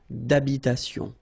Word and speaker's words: d'habitation: Remember, H doesn't exist in French, well, in most of the cases, so it does mean that you don't pronounce it, all right? So, d'habitation. Une tour d'habitation.